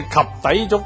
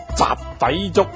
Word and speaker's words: 及第粥: 假如有邊個外地人想食及第粥，講成雜底粥，咁人哋咧會話佢發音唔正。